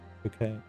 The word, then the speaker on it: bouquet: Bouquet. All the freaking silent letters in that word there.